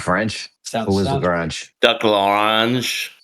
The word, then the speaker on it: Lagrange: Wait, I think Lagrange horns with orange. Only if you say it like a maniac French person.